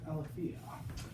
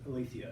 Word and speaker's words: Aletheia: her new book uh walking with alaphia uh am i pronouncing that right i say sorry walking with alethia i should have checked